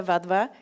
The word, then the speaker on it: Wadhwa: here um this is Cassandra AES I'm Anita vva uh my name's pronounced kind of like their v's and we